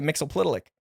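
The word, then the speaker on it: Mxyzptlk: Mr PL so wait how do you pronounce it uh I always it was Mixel uh I there's a y in there so I always say Mixel plik it's mxy I know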